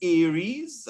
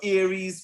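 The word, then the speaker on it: ARES: armature radio emergency service aries at least that's how it's pronounced and aries are licensed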